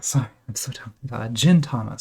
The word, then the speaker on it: Gintama: another garbage pale kids jintana sorry I'm so Gintama so the soft G over here that's why I was getting it wrong these are all hard